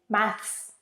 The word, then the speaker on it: maths: In British English, you have to say maths, th followed by s, which isn't easy. But in American English, you can simply say math.